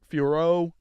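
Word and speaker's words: Fiorot: pretty weak chevchenko fioro Fior whatever however F fioro that's how you pronounce it it's French like I don't care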